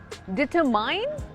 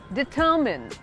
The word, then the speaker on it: determine: DETERMINE, कुछ decide करना या फिर कुछ तय करना, उसको बोलते हैं डिटरमाइन। नो, it's called डिटरमिन।